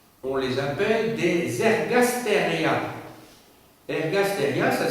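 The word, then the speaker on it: ergastèria: Ergasteria, ça s'écrit E-R-G-A-S-T, E accent grave, R-I-A.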